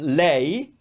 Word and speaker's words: lei: you are reading or writing when we say lay meaning she we don't capitalize the the first